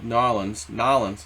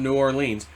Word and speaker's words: New Orleans: hit, the low-lying area, Nolens. You gotta say it like an OG, not New Orleans, Nolens.